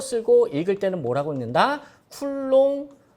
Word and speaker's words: 쿨롱: Q 전기량이 전기량의 단위는 C고 쓰고 읽을 때는 뭐라고 읽는다 쿨롱 어 기본적으로이 정도는 나오셔야 돼요 왜 전기량의 단위를